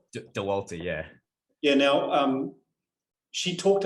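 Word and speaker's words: Dauwalter: How do you pronounce her surname? Dewalt? Dewalter, yeah.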